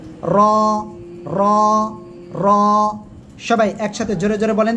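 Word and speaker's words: راء: জিহ্বার পিঠ তার বরাবর উপরে তালুর সঙ্গে লাগিয়ে মোটা আওয়াজে উচ্চারণ হবে র র র।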